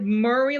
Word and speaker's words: Morray: I I can't pronounce it like Murray. Like hurry but with an M.